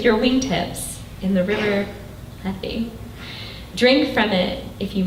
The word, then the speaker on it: Lethe: I always freeze about how to pronounce this word. I think Dean's actually helped me out with it before. Lethe, the river Lethe.